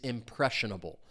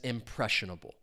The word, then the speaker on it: impressionable: If you want to describe someone as impressionable, stress is on that second syllable. Four syllables total.